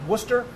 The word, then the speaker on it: Worcester: very comfortable family how do you say it Worcester Worcester well there they say what's that cuz